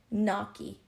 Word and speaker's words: gnocchi: Noki.